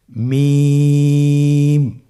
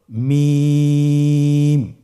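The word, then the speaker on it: ميم: মিম হরফটি উচ্চারণের ক্ষেত্রে অবশ্যই বারিক হবে, পাতলা হবে এবং তিন আলিফ টেনে উচ্চারণ করতে হবে। আমার সাথে আরেকবার চেষ্টা করুন। মিম আবার বলুন মিম হরফটির উচ্চারণ স্থান দুই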